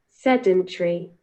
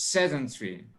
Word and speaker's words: sedentary: So first of all, we will listen to the British translation, British pronunciation. Now listen, please. Sedentary. So it's sedentary.